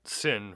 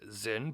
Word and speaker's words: Sinn: Zin 240 St I'm going to probably be pronouncing it sin for the rest of the video that's just